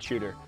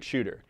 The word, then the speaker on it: Chuter: So the name kind of says it all, the Straight Chuter. It wants to go straight and fast. And it's spelled shoot like C-H-U-T, kind of like down a chute or a couloir, because